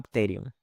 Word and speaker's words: pterion: huesos, que se llama pterion. Se escribe con P, Pterion.